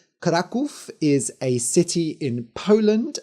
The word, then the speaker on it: Kraków: about the city so for the rest of the episode I will be using the normal English pronunciation COV so the dragon of krackov this is a story